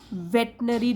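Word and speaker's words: veterinary: यह न्यूज़ है और जो स्पेलिंग होती है वह बहुत ही ट्रिक की स्पेलिंग है देखिए अगर इसको खोलेंगे तो वे आई टी आई आर I battery ना आर ए स्पेलिंग तो ऐसे होती है बैटरी नई जब हम उसको अब लेकिन पढ़ेंगे प्रोनाउंस करेंगे तो बोलेंगे वेटरनरी डॉक्टर ठीक है तो यहां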